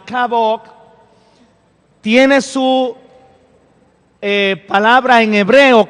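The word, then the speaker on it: כבוד: Así que, entrando en materia, la palabra honra o el verbo honrar en el hebreo se pronuncia kabok.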